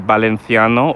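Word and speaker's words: Valencià: So Valencia um it has a co-official language called the Balenthiano or Balenthia with an accent on the last A.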